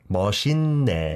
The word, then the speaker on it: 멋있네: So you can think of it like, even though it has the 쌍시옷 받침, you can think of it as having a 니은 받침 maybe? 멋있네. Yeah. 멋있. It becomes 니은 because the next consonant is 니은.